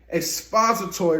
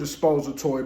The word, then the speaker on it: expository: of writing an essay, expository writing is the most popular, if you ask me. Some people may pronounce it expository, but it's expository writing, okay?